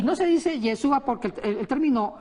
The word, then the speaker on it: Yeshua: Yeshua. O Yeshua, ¿cómo Estamos se ahí.